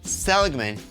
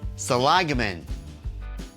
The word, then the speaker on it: Seligman: mispronounced the name wrong it's not selan it's salagan well we'll continue on